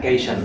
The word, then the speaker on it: cation: Cái này là cation đó nha, nào là cation. Cation. It is pronounced like cation. You have to be very careful.